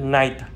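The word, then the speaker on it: knight: Và cuối cùng của chữ K là chữ night là hiệp sĩ. Chữ nay hiệp sĩ và chữ nay buổi tối thì chúng ta đọc như nhau, phát âm y chang như nhau, night và night.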